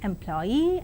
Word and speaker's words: employee: And now the words stress, the words ending with suffix ee, eer and air are stressed on the the syllable itself, that is payee, addressee, employee, absentee. And engineer, volunteer, career, mountaineer, millionaire and questionnaire. And let us see accent in the compound words.